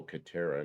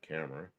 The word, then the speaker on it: Catera: Oh, Catera, not Camera.